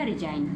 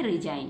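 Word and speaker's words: resign: क्या बन गया, रिजाइन, क्योंकि जी को साइलेंट रखा है, केवल इसको पढ़ेंगे रिजाइन।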